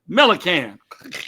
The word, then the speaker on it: Millic: you sure are you you pronounce it just like it's spelled m i can melan yeah there you go